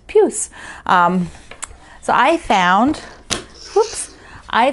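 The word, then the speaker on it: puce: today we're on puse i had to look up how to pronounce that it is kind of an icky pinky purpley thing and it is french for fleas lovely right i think of pepe le pew so it's puss so i found oops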